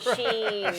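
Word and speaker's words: Shein: I'm sorry, but I want to know how to pronounce the company first, so that's why I'll never go to Shine.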